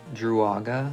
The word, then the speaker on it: Druaga: The final anime is Duega. You know, I intended to pronounce the name correctly, Duaga, like Doruaga in Japanese, but I couldn't manage to stick with it.